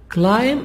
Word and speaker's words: climb: walk at edinburgh castle climb up climb be silent climb up 187 steps